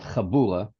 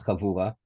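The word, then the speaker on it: חבורה: yourself to a chavura, and not chabura, right? The right way to say is chavura, or chavura, in one detail, which is more than actually connecting yourself to a specific rabbi.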